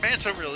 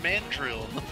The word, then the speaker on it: Mandrill: It's not Mantrill, it's Mandrill.